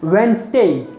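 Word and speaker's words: Wednesday: जब आप इसके सिंबल्स या वेंसडे का ट्रांसक्रिप्शन देखेंगे तब आपको पता चलेगा इट इज वेंसडे नॉट स।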